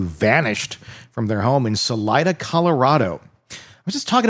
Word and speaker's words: Salida: Is it Is it Selena or is it Salena? Salida.